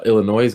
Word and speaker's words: Illinois: Hey, we got another Illinois guy in here, Robert Hayes. He says, The S is silent.